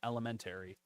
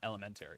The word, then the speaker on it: elementary: lesson for the day we mispronounce Elementary in Western New York York cuz it's not Elementary oh it's ele elementary elementary elementary elementary and I learned